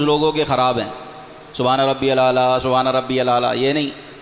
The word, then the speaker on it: سبحان ربی الاعلیٰ: کا تلفظ روزانہ ہر جمعے بتاتا ہوں میں، تلفظ لوگوں کے خراب ہیں، سبحان ربی الاعلیٰ، سبحان ربی الاعلیٰ، یہ نہیں، سبحان ربی الاعلیٰ،